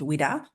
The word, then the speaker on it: WWDA: women with disabilities Australia our acronym is pronounced widda was established in 1985